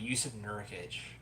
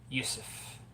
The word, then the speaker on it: Yusuf: He actually has my name, but you pronounce the J. I think he literally has my exact name, but you pronounce his J in his name as a Y because he's a Russian guy.